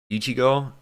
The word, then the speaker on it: Ichigo: Ichigo?